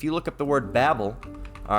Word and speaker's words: Babel: subject it's being talked of but it's really Babel if you want to pronounce it correctly says a confused noise made